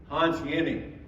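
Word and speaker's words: Hans Jenny: prie same rainfall but Hans Yenni gave if you haven't read Hans yanny's book spelled with a j jny y it's on the internet uh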